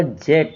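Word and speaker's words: Djet: लेकिन इसकी स्पेलिंग बनेगी डी जे ई टी बनेगी जिसमें डी साइलेंट रखेंगे। तो इसका प्रोनाउंसिएशन होगा जेट होगा।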